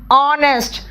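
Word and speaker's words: honest: है वो साइलेंट है ऑनर आर ऑनेस्ट रिदम देखो यहां पे एच साइलेंट है रिदम है ऑनरी हॉनरेरी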